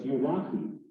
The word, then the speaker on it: Ulaki: He said that it's like you and a lock and a key. So it's Ulaki.